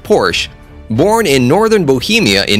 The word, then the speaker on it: Porsche: was named ferdinand porsche whose last name is pronounced porsche born in northern bohemia in 1875 which today